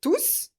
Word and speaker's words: tous: qu'on a étudié aujourd'hui dans laquelle on va prononcer le s ils sont tous nuus mais avec l'adverbe c'est